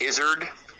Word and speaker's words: izzard: It used to be pronounced Izzard, like lizard, or Z.